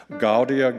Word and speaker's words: Gaudia: Gaudia, Gaudia is how we will pronounce those first two words, but the rest is pretty straightforward.